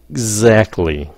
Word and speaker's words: exactly: Now exactly phát âm như sao? Ác, cái xong rồi các bạn nín hơi tí xíu, exactly, cái âm Z, okay, exactly. Like that.